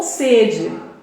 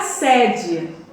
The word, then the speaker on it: sede: Por exemplo, estou com sede. Som do primeiro e é fechado, tá? Agora fui na sede. O som do primeiro e é aberto, entendeu? Estou com sede e fui na sede.